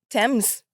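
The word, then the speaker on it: Tems: Thames.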